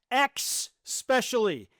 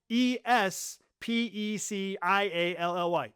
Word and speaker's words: especially: The word especially is not X-specially. It is not EX. It's not EX. It's spelled E-S-P-E-C-I-A-L-L-Y. It is especially.